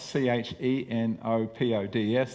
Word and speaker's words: chenopods: And it's pronounced and written chenopods, C-H-E-N-O-P-O-D-S, there's the word there, but it's actually pronounced chenopods.